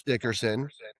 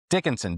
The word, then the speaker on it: Dickinson: I mean Bruce want you want Bruce Dickerson. Dickinson. Dickinson. Dickinson. Oh, I say it wrong.